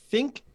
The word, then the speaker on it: ThinQ: And then I had two options for how to set it up, either with their Think app, Think spelled with a Q, Yep.